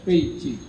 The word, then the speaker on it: Beijing: dengar kemarin waktu ke peijing peijing bacanya peijing kita tulisannya kan Beijing kalau yang bisa bahasa Cina pasti bacanya pe Ching pe artinya Utara Ching